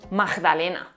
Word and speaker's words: magdalena: Se suele pronunciar la G implosiva como J. Magdalena.